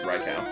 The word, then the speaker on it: Raikou: I knew a lot of people who used to say it Raikou. It's like, it's Raikou. Like, I have the book, it says the pronunciation right here. It's Raikou. Oh, come on, hoot hoot.